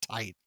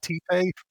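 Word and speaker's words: Tite: It has always freaked me out that he does want you to pronounce it tight. I was like, what? It's not T-Pay?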